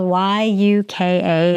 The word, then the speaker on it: Yuka: a popular thing but my app is it's it's spelled y u ka it's yuka and it you can scan items